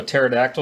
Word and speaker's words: pterodactyl: Hey Lisa, do you know how you can't tell if a pterodactyl is going to the bathroom? Right. Because the P is silent.